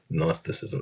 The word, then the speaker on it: Gnosticism: Gnosticism. It starts with a G. Um, uh, I would say gnosticism or gnosticism, but it's G is silent. Doesn't need to be there.